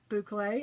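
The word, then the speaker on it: bouclé: How do you pronounce that word? She said, boucle. I'm like, oh, thank you.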